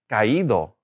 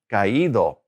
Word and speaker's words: caído: Again, accent is caído, caído. So we've taken off that